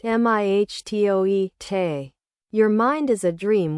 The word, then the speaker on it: mitote: Pronounced mihtoe, te.